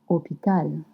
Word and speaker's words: hôpital: Because we used to say hospital, but we say hôpital. Hôpital. And remember, in French, you don't pronounce the H. Hôpital. Hôpital. The H is always a mute letter.